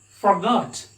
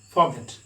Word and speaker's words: forgot: And we pronounce, of course, the British people pronounce it as forgot. Here, they are what? Giving stress on this vowel. They pronounce it as forgot, but we the Indians pronounce it as forget.